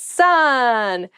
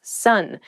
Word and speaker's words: son: It's son. A male child is someone's son. Son s o n is pronounced exactly the same as s u n son.